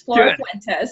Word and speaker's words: Flora Fuentes: Did I pronounce that right this time? Yes, it's Flora Fuentes.